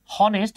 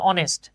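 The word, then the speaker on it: honest: জায়গাটাতে আমরা এন লিখবো যেমন দেখেন এই যে লেখা আছে হনেস্ট কিন্তু উচ্চারণ হচ্ছে অনেস্ট এই যে এইচ টা সাইলেন্ট আছে তাই না এই বিষয়গুলো নিয়ে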